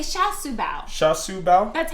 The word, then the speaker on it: char siu bao: No, Sha Su Bao.